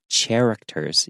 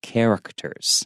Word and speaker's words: characters: and don't forget characters even though it starts with a CH a lot of times some people want to say characters because CH usually has a sound but this one is a hard C sound characters yeah alright Colborne